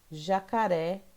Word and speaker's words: jacaré: Jacaré. O ré é a sílaba mais forte.